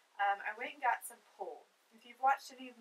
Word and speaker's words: PUL: I went and got some pull. If you've watched any of my other videos, I use pull a lot with cloth diaper items and reusable items and stuff like that. Pull is spelled P-U-L.